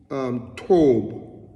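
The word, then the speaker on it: טוב: Because the word good comes also from another Hebrew word, which is tob. Tob. The word is spelled T-O-W-B, okay, in English.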